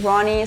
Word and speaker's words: Roony: First name Ronnie, surname. You repeat your name and your surname. Uh, Ronnie.